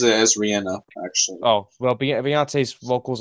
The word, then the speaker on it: Rihanna: She pronounces it as Rihanna, actually.